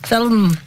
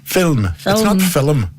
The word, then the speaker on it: film: called sorry say say say film with one syllable film film why cause it's not